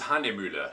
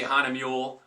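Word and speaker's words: Hahnemühle: The name of the paper is Handemühle. Let me just do something real quick here. You'll see it. And I'm saying that with the proper pronunciation of the umlaut, I believe.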